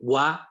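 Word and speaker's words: は: La sílaba es HA, ¿ok? En Romaji, atención. O sea, la pronunciación ha es la pronunciación básica. Pero cuando esa sílaba está en función partícula, se pronuncia wa.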